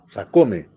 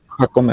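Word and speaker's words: Jácome: Ah, Sacome. Está Sacome, Sí, profesor, presente. así como se escribe Sacome. Ya, Jacome, ajá. Sí. Sacome. Con J, profesor. Jacome.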